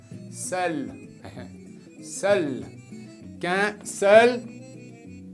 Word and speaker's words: seul: Aquí EU se pronuncia qué feo, pero como está con la L se pronuncia mejor. Seul.